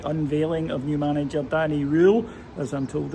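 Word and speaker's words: Röhl: Just uh getting ready to go in for the unveiling of new manager Danny Rule, as I'm told it's pronounced.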